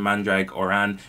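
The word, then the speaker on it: Mandragoran: him saying that lan mandrake or an is riding towards taiwan guidon yes that is how the pronunciation guide i found online said to pronounce lan's surname i don't even have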